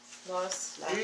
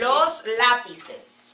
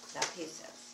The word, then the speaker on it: lápices: el lápiz, how do you pronounce the plural? Los lápiz- Los lápices. lápices. Okay. Los lápices.